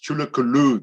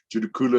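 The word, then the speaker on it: Tsul'kalu: It is Judukula is Chulukulu. That is the correct pronunciation. Judukula is a European version of the pronunciation.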